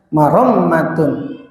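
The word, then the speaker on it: مرمة: Bi fathil mimi, di fathah mimnya, warra'i, yaitu di fathah ra-nya, wa tasdidil mimi, dan di tasdid mimnya, yaitu dibacanya marommatun lil ma'asi, artinya memperbaiki kebutuhan hidupnya.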